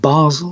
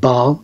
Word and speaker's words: Basel: I don't know I I pronounce it Basel some say some call it Bal b a s l e in Switzerland I'll say Basel at Basel in Switzerland